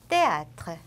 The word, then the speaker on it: théâtre: 그 다음은 마지막 때 아쉬가 붙어 있는 요것은 뜨 발음. 그냥 우리가 알고 있는 요 때랑 같은 발음 해주시면 돼요. 영어처럼 뭐 쓰 이런 발음 없어요. théâtre, méthode, 때 이렇게 쌍디귿과 유사하게 발음해 주시면 됩니다.